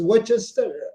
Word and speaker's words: Worcester: Some names are hard to pronounce. That is Worcester. Okay. Remember, I told you it's hard to pronounce. It's called Worcester, and it's Old Worcester. English. Okay. Worcester, England, and it's Worcester, Massachusetts. It's Old English.